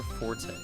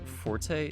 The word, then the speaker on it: forte: you're good at something it is your Ford's not your forte fact yeah forte is allowed in a time where as something that you are proficient in is your fort it's true up in the dictionary don't believe me it's